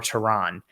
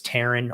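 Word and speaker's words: Taron: from several years ago I didn't know if it was Taryn or Tehran and then I watched multiple interviews with him and saw him introduced as Taran over and over and so I just thought well if he's doing these official interviews I'm assuming they know how to pronounce his name so yeah I went with the term but you still get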